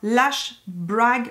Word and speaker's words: Lash Brag: Par contre, chez Anastasia Beverly Hills, ils viennent de sortir un nouveau mascara qui est le mascara Lash Brag Volumizing. C'est ça, je l'ai bien prononcé.